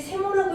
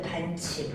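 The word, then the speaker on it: ㅿ: 그 다음 얘는 자, 이거 어떻게 읽어요? 이거 우리 배운 사람들이 세모라고 읽으면 안 돼. 뭐라고 읽어야 돼? 반칠.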